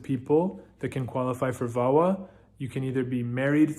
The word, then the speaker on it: VAWA: and this particular green card option is called vawa it's spelled v-a-w-a and it's the violence against women